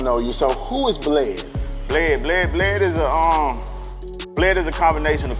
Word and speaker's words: Bled: A lot of people, even though it's spelled B-L-E-D, a lot of people walk up on me and be like, bleed.